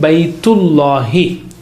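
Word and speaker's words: بيت الله: Baytullahi.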